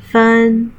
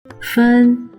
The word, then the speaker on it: 芬: 芬 is the upper part 草 and the lower part 分分 and 分 are the same pronunciation.